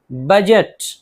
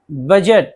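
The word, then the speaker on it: budget: इसी तरह लेज लेज छज्जा ब्रिज ब्रिज पुल बजट बजट बहुत मशहूर लफ्ज है बजट देखिए डी जी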